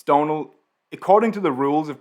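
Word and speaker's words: Domhnall: didn't think about that my real name is donal it's an irish name it's spelled d-o-m-h-n-a-l-l the great thing about that name is that most of those letters are completely silent it's a super super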